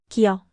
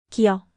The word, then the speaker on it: 기역: 기역, 기역, 그, 그. A soft k sound like in go or a k sound at the end of a syllable.